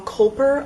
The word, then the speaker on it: Kulper: The first book is The Witch of Salt and Storm by Kendall Kulper, I believe is how you say it, and I have actually heard mixed things about this, but I'm still really intrigued by it.